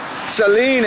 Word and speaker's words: Celine: only fair nature Celine Celine it rhymes with mean to the people on